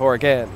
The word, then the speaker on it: Oregon: maybe from the state of Oregon but you pronounced it Oregon right yes in fact I just moved here from the state of Oregon oh uh fun fact the village of Oregon